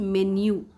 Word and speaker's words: menu: Spelling MENU होता है, आप रेस्टोरेंट में जाते हैं मीनू बोलते हैं, वो लिखा होता है, लेकिन उसकी इंग्लिश में प्रोनाउंसिएशन इज़ मेन्यू.